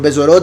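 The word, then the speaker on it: בשורות: Uno podría decir carnes, pero besorot es como se pronuncia las buenas nuevas, lo que conocen como evangelio.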